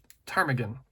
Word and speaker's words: ptarmigan: Alaska as willow ptarmigan that's a silent P this is ptarmigan and the willow ptarmigan